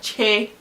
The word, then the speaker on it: ch: Nke atọ bụ, which is the third letter, che, like che, which is CH. Like, unlike English, which is C, Igbo is CH. And the day ka CH, spelled as CH, pronounced as CH-double-E, which is che.